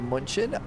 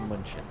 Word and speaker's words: München: So, we flew from Stockholm down to Hanover and we're doing continuing service down to Munchin. Munchin. I think I do I pronounce the U too much. It's more like mention.